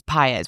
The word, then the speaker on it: Paiz: Of course, Paiz, which I was saying that wrong last week, huh?